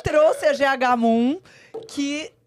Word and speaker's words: Mumm: E é GH Moon mesmo. O fundador chama George Hermann Moon, um alemão. Então, a pronúncia é do jeito que se escreve no português mesmo.